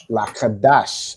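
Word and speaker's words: Laqadash: Lakadash, exactly. Well done. Right? So that's like the three syllables, right? La, ka, dash. That's exactly correct.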